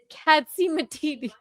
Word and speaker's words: Catsimatidis: Alexa, how do you pronounce the last name spelled Catsimatidis? D-I-S. Katsimatidis.